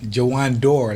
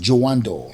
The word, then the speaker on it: Jawandor: Jawandor, like the door. Oh, Jawandor. Yeah. That's the right pronunciation. Yes. Jawandor.